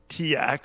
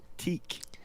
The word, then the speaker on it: TEAC: So you just TEAC, like Yeah. that's how that's pronounced. Is how would you pronounce it? I'm pretty sure I've been saying like Tiak or whatever. And now that I say it out loud, it sounds ridiculous.